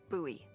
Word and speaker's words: Bowie: It's actually pronounced Bowie. What? No, it's like the last name, like David Bowie.